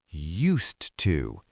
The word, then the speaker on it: used to: And the D is silent. You don't say used to. You just blend it.